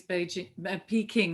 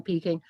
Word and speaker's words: Peking: Peking is a romanization which was made in the 17th century by French Jesuits, who bizarrely rendered the sound j or ch with a k.